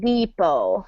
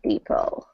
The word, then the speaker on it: depot: Yep, and remember that T is silent, so it sounds like depot. I'm trying to type it next to it there, depot.